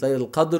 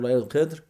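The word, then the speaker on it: Laylat al-Qadr: the night of destiny, depending how you say it, Layl al-Qadr or Layl al-Qadr.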